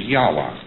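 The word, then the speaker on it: Yahweh: is to be pronounced but more agreed upon pronunciation among Scholars so they can talk about it is yahwa and and this is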